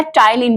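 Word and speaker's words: ptyalin: हम कहते हैं क्या, टाइलिन। Very very important, board में आने वाला क्वेश्चन है। टाइलिन पी साइलेंट होता है, टाइलिन इसको बोलते हैं, और ये सलाइवा में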